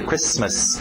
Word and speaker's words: Christmas: O T é mudo, não pronuncia esse T. Christmas.